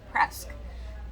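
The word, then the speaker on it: Presque: casino called press downs it's p-r-e-s-q-u-e but they pronounce it press downs and uh you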